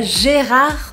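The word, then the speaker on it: Gérard: pronúncia desse nome é jerrar da tarde o jerrar dan tardio se por acaso você pronunciou de no final de gerrard é errado a gente não por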